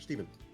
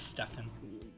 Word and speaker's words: Stephen: and green representing risen is Stefan Erik Steven it's Stefan this spells any names that aren't pronounced phonetically I was missing up